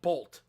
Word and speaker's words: Boruto: They said the pronunciation of Boruto was supposed to be Bolt.